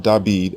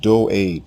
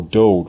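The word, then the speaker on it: דוד: The king's name is not David as it appears in the Greek New Testament. It is not David. It is not Dawid. His name is pronounced Do'ed, or Dode for short.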